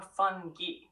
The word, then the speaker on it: fungi: It's pronounced either fungi or fungi, depending on the region. In Australia, fungi is the usual choice.